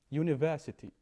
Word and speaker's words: university: Like in here, university. You don't say I an university, no, a university, because it sounds like you.